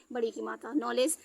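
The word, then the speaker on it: knowledge: नहीं कर रहा है नॉलेज यहां पे देखिए आपको दो दो इसमें फॉलो कर रहे हैं एन से पहले आया कई साइलेंट हो गया है ओ ब्लू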